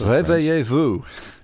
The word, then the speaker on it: Réveillez-vous: Well, it's difficult to pronounce because it's in French, Slim. Yes. I took it's 6 called years. Réveillez-vous.